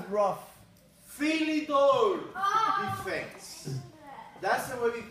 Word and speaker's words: Philidor: It rhymes with rough. Philidor defense. That's the way we call the defense. Philidor.